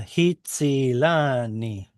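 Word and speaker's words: הִצִּילָנִי: Hitzilani.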